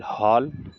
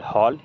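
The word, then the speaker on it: hall: इसको ल पढ़ेंगे ल एच A double L हॉल एच A double L हॉल ये डबल से हो गया दोस्तों डब्लू ए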